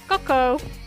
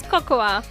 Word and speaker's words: cocoa: We would pronounce this word as cocoa, not as cocoa. The letter A would be silent here.